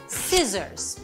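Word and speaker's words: scissors: এবার আসি সি তে সিও কিন্তু বেশ প্রবলেম্যাটিক যখনই সে এস এর পরে আসে সে সাইলেন্ট হয়ে যায় যেমন muscle সিজার্স scene scenario fascinate এরপরে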